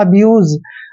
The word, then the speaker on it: abuse: Last में ई आता है तो ई का उच्चारण हम नहीं करते हैं। इस तरह से हो जाएगा दोस्तों अब्यूज।